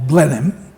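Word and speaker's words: Blenheim: spelled b l n he i m but pronounced b l n n i m m or Blen him ramales and oudard oudard and Mal Mal plake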